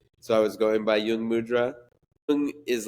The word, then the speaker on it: Jung Mudra: oo in both words is actually the same Yung mudra you know it's like oo Yung mudra yeah